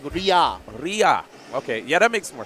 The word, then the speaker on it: Riar: Riar.